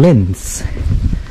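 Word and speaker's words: Linz: is about a half an hour drive from lens lens is a measure Town major city I should say in Austria it's spelled l-i-n-z it's a beautiful city it's about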